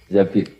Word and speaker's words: Zabir: Abdurrahman bin Zabir di hadis ini bukan bacanya bukan Zubair tapi Zabir Abdurrahman bin Zabir tapi